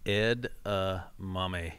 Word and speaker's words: edamame: Edamame.